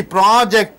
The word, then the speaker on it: project: mean by that see project two two syllables are there isn't it two sound two WS are there so when you stress the pro it becomes project I project research a research